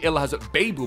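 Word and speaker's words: Ihlas Bebou: quincy promise kudos aryan robin and dumfries and ill has a babu by the way is how you pronounce it vamos or should i say lekker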